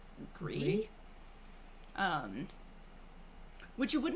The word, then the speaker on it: Gris: I've heard it pronounced as Gris, but I'm assuming it's like Gree.